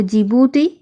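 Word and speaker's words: Djibouti: रा होलो जिबूती देखो जिबूती बनान किंतु नरकम डी दिए शुरू डी टा साइलेंट थक तो जिबूती Egypt Eritrea Saudi Arabia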